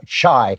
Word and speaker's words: chai: Caramel, you got to say it like a caramel, brownie batter, vanilla chai. I should say chai, it's the Hebrew version.